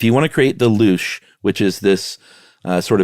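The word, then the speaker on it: louche: if you want to uh what is it pronounced the loosh that's what I think yeah l-o-u-c-h-e if you want to create the loosh which is this uh sort of Cloudy effect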